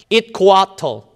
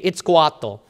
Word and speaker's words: Itzcoatl: rise of their emperor, which is pronounced as Itzcoatl, okay, Itzcoatl, the black serpent, who defeated the Tepanaca, who tried to destroy them in fear of their growing mastery of the area. So Itzcoatl, that's the big guy